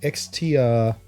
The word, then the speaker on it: Xtrfy: keep forgetting what their brand, how do you pronounce their brand? Xtrfy, XTRFY, Xtrfy.